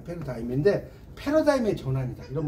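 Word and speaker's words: paradigm: 준거의 틀이라고 하고요이지가 무음입니다 패러다임이지가 발음이 안 돼요이 패러 디금 이렇게 하는게 아니라 패러다임인 패러다임의 전환이다 이런 말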